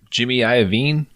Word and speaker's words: Iovine: And Jimmy Iovine?